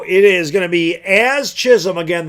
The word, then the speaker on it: Jazz: So it is going to be Az Chisholm. Again, the J is silent in jazz. It's Az.